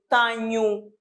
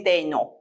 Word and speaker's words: tenho: Então, eu aqui devo dizer tenho, não posso dizer tenho, nem tenho, é tenho. Então, eu tenho 53 anos. Quando eu tenho em português o dígrafo,